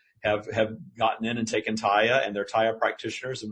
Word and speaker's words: TYA: TYA stands for Trust Your Abundance, and we pronounce it Taya, and it's now a thing.